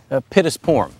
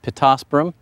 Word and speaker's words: Pittosporum: may be familiar with pusp porm which is actually pronounced pittosporum toyra it is a